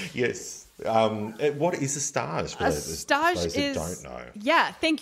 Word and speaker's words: stage: those that don't know what is a star so stars is spelled s-t-a-g-e so like stage yeah but it's not